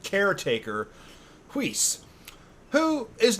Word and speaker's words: Whis: kind of like caretaker whis who is not yeah seems to be like kind of like yeah has that weird pronunciation to it but emphasize the H over the w w flam H yes